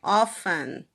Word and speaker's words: often: O livro ele fala que o T nessa palavra, ele sempre foi silencioso, ou seja, sempre foi often, tá?